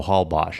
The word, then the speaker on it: Holbox: So that X is Osh, so Holbox.